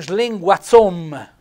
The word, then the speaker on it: slinguazzom: Te sei un slinguazzom, sei un linguacciuto, accento tonico sulla O, accento fonico chiuso.